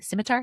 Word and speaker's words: scimitar: Scimitar? Is that how you say it? A scimitar. Yes. Scimitar.